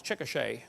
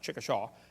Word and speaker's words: Chickasha: 2005 textbook, and I pronounced it wrong as Chickasha, not Chickashaw, Chickasha, Oklahoma. I got corrected during the break.